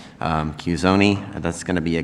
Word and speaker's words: Cuscione: Thank you, Judge Wallace, and it's CUSCIONE.